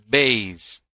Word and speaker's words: based: About these 2 groups, for example, this word, for example, based, it should pronounce ed like T. So, based.